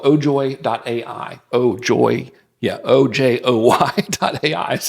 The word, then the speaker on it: Ojoy: It's called ojoy.ai. Ojoy. Yeah, ojoy.ai is how you spell that.